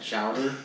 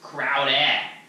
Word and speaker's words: Crowder: He's got Chowder and Chowder. It's Crabtree and Chowder. It's pronounced Crowder.